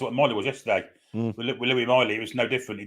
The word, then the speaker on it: Lewis Miley: great goal apparently he Lou Miley not Lewis Miley apparently all accounts really Eddie calls him Louie D called him Louie yesterday yeah it's I mean it's spelled Louis but they call him Louis for some reason I don't know maybe it's a nickname maybe it's it's a